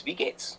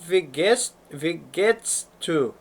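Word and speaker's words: Wie geht's: you'd like to practice it's not vest V to Vates pronunciation Vates is the correct phrase in German for how are you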